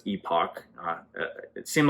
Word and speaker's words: Epoch: this is reported by the epic or epoch times um i've heard it pronounced otherwise but i believe that's epoch uh it seemed like